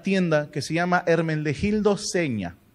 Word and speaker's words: Zegna: que se llama hermenegildo seña se escribe signa pero se pronuncia señal de entrada hermenegildo va